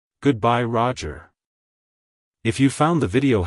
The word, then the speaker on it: Roger: history it's pronounced as Roger Roger Roger to pronounce it correctly emphasize the first syllable R OJ and then quickly move to the sound at the end like hello Roger goodbye Roger if you found the